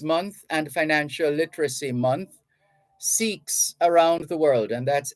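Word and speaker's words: Sikhs: Awareness Month Farmers month and financial literacy month seeks around the world and that's s-i-k-h-s-s-i-k-h-s seeks around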